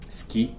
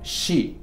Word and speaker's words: Ski: No es ski, sino ski, porque viene del noruego.